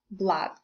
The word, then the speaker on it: blood: spelling with the help of double O as in flood and blood. And I'd like to draw your attention to these two words as from my experience, learners tend to mispronounce them. So it's flood, blood.